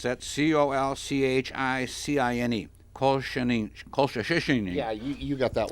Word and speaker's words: colchicine: could possibly be prevented by a drug called colchicine. I don't know how to pronounce that. Colchicine.